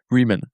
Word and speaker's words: Riemann: Is it pronounced Rayman or Raymon? Reman.